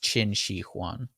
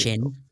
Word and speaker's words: Qin Shi Huang: I believe that's pronounced Qin Shi Huang. Yeah. However, you're the master at the Asian here. I think that Q is pronounced. Wait a minute. Qin. Why is Chin.